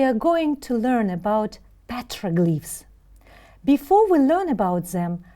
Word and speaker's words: petroglyph: Can you repeat after me? Petroglyph. First syllable is stressed. Petroglyph.